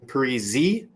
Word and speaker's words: Parisi: I've used and heard Parisi and Parisi. If you go with the Parisi, it rhymes with more things.